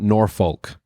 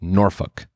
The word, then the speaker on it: Norfolk: It's not Norfolk, it's Norfolk. And then I guess if you're really local, they'll tell you it's pronounced Norfolk.